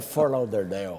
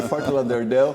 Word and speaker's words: Fort Lauderdale: A minha pronúncia é do interior de São Paulo, mas é Fort Lauderdale. Ok, Fort Lauderdale. Muita gente vai rir, mas é assim mesmo que se fala.